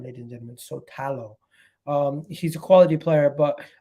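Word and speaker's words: Šutalo: Sotalo, they call him, ladies and gentlemen, Sotalo.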